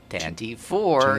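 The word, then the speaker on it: Tantive IV: I don't know how it's pronounced. Tantive 4 is how I always say it. Tantive 4 is Wow.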